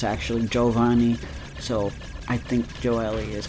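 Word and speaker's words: Gioeli: I'm guessing Joely is how it's pronounced.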